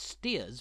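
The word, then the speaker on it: Staithes: states is no exception The Village's name is pronounced steers by locals and it's a place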